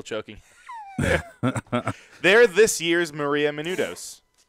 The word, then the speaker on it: Menounos: They're this year's Maria Menounos. Right? Okay. You didn't say it right, but yes. I mean, Maria Menounos. yeah. Menudos, yes, you Menounos.